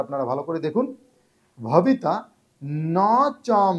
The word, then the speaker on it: ন চ: ন চ, এখানে নচ বলবেন না, ন চ।